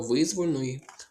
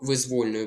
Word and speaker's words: визвольної: Не до визвольної, а до визвольної боротьби, бо воля. Визвольний.